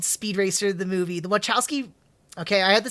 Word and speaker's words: Wachowski: The Wachowski.